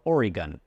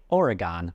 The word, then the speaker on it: Oregon: The two most common seem to be Oregon or Oregon. Nobody except people outside the state say Oregon like the shapes pentagon or octagon. It's pronounced Oregon or Oregon.